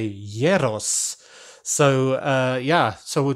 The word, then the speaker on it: gyros: like that because the greeks don't say the g so you say yeros so uh yeah so